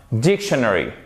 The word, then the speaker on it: dictionary: première syllabe c'est celle qui est porteuse de l'accent tonique c'est pas dit honoré mais c'est bien dictionary hockey et c'est pas con bridge et ça